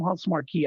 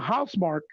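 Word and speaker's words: Housemarque: developers house mark right i call them huntsmart key i don't know why it's before i have it because that's how it's spelled but house mark they said that they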